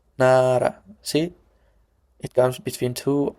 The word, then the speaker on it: 나라: If this letter comes between vowels, it is pronounced as R. But in different cases, it's pronounced L. L. Nara, nara.